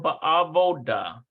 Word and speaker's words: בעבודה: Ba'aba od ba'ovadah. No, it's ba'avodah.